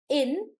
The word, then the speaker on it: industry: However, the word industry, when we try to break up the word industry, we'll say industry. So 3 syllables.